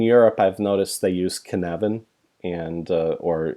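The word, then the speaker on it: Cynefin: I've noticed they use kanavan and/or it's spelled syn ofin but its head can Evan it's a Scottish word and they've stone from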